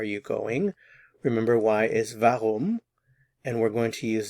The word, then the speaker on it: warum: why is v v vum again notice the pronunciation of the w v vum we also